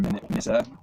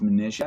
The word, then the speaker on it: Manasseh: He gives Joseph a wife, and she bears 2 sons to Joseph, and one is Manasseh, or you may hear Manasseh, but it's pronounced Manasseh, I believe, and that means causing to forget.